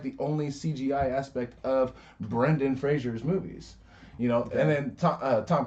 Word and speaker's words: Brendan Fraser: Brandon Fraser? Brendan Fraser.